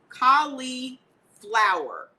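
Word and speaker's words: Cali'flour: it's at Walmart it's Kali flower spelled like flour so c-a-l-i apostrophe f-l-o -u-r like regular flour it's cute so this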